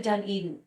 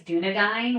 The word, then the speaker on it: Dunedin: I did right question I feel like I always put the the the wrong emphasis on the wrong Sal anytime that I tell people they read where I'm from they think it's dunad which is a oh my